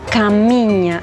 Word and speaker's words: Caminha: Galicia, con España, llamado Camiña. No sé si lo pronuncio bien, eh, porque la a, la H entiendo que es como la ñ eh para nosotros. Sí, sí, sí.